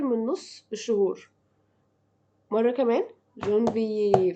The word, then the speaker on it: janvier: janvier, février, mars, avril, mai, juin, juillet, juin, juillet, juin, juillet, juin, juillet.